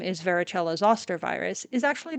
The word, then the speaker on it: varicella: Varicella also comes from the Latin for various, and it is pronounced varicella, not varicella. There is no soft C in Latin pronunciation.